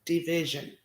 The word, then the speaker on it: dvsn: it's called tired by division so dvsn is how you pronounce or spell that d-v-s-n so the song is called